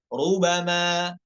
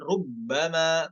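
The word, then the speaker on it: رُبَمَا: bukan alam Bu lanjut 33 rubama rubama bukan ada tasdidnya bukan rubbama bukan lanjut 34 yatafayya ya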